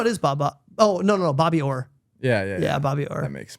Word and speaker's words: Bobby Orr: Bob Otto?